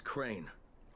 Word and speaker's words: Crane: store no my name's crane crane crane rhymes with train and and S and